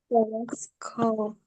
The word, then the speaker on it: telescope: Kan tadi di awal dibilang nih, C itu ada dua jenis pengucapannya. Ada yang soft C, bunyinya seperti S. Ada yang hard C, bunyinya seperti K. Nah, yang ini bunyi C-nya seperti K.